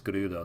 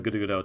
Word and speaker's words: Gerudo: proper way to pronounce Gerudo now, because I always kind of roll the R with it, and I wasn't sure if that was right, but it seems like that's the right way.